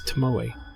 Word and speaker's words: Tomoe: Yeah, for anyone who has ever seen that name and not sure how to pronounce it, there you go. That is Tomoe.